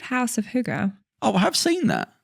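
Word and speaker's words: hygge: you say um it was called House of Huga oh I have seen that um yeah how did you spell it h y g g e and what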